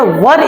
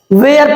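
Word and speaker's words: were: कह रहा है कि वेयर वर यू बर्न, कुछ लोग इसको क्या पढ़ते हैं मेरे दोस्त? इसको क्या पढ़ते हैं? वेयर पढ़ते हैं। बिल्कुल गलत प्रोनाउंसिएशन की आपको टॉपिक पढ़ने की जरूरत है, अगर वेयर पढ़ोगे तो बड़ी मार मारे जाओगे। चलिए इसको पढ़ते हैं वर, तो वेयर वर यू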